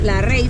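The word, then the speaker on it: Lerai: la reina o también se escribe leer hay pero más dicho que se pronuncia la rey forrest el único bosque es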